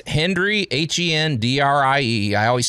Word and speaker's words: Hendrie: But hey, so it's Hendrie, H-E-N-D-R-I-E. I always spell it because it's easy to sound like Hendrie.